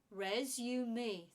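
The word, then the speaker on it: résumé: show them your skills resume three syllables again thumb now it's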